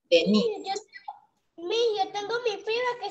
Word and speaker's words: Denise: La acentuación está en la D, pero para niña la mayor acentuación está en la I, Denise. Yo tengo mi prima que se escribe así, Denise. Prima. Sí. Se escribe así, pero la pronunciación es Denise, pero para niño, Dennis.